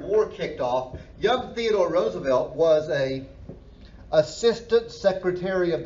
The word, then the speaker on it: Roosevelt: own people is called Roosevelt's Rough Riders okay and and by the way he did pronounce his name Roosevelt his cousin Franklin pronounced it Roosevelt but but he would have been Teddy Roosevelt so Roosevelt's Rough Riders